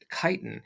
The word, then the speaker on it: chitin: and this is chitin it's that's what how it's pronounced chitin and it's used by